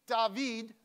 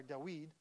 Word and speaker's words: David: When they read David, or Dawid, depending on your Hebrew pronunciation.